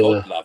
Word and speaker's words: Gottlieb: I think it's pronounced Gottlieb. Is it? But I don't know. Gottlieb? Yeah. It's German, isn't it? I'd say it'd be Yeah. Godlove, I think, if it's German.